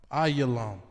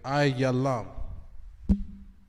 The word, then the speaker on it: Elam: And then in the Hebrew, it's spelled I-Walam. Ayalam. Okay, Ayalam.